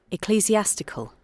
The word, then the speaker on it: ecclesiastical: Ecclesiastical. Say that again. Ecclesiastical.